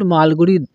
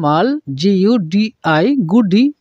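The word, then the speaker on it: Malgudi: মধ্যে ইনি হলেন একজন his notable works include মালগুড়ি dress and the guide তোমরা লক্ষ্য করবে এম এল মাল জি ইউ ডি আই গুডি এরকম উচ্চারণ আমরা করবো না এখানে ডি এর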